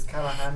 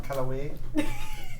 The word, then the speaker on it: Callahan: It was Callahan, not Callaway. Callahan. Cala. The Callaways are from a county over.